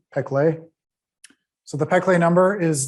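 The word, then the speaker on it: Péclet: called the peclet number p uh e peclet depending if you're french or not uh oh you spell that p p e c l e t p clay so the peclet number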